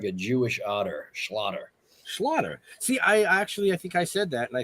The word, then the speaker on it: Schlatter: like get really upset sometimes people say uh mr mr schlatter schlater and he'd go it's slaughter it's it's slaughter it's like that why are you getting